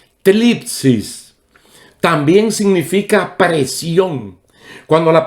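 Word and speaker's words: θλῖψις: La palabra griega que se traduce tribulación es una palabra que tiene una pronunciación un poquito rara en griego. Tlipsis. Tlipsis.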